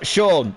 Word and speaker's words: Sion: Sion is pronounced Sean. Oh, it's the same as my name.